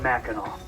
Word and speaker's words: Mackinac: And the French would call this Mackinac with the silent C. Today we call it Mackinac. The British would spell it with a W, like in Mackinac City.